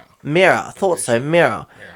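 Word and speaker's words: Mira: Mirror. Mirror. Thought so. Mirror. It was like there's no way it's going to say mirror and it's spelled m i r a.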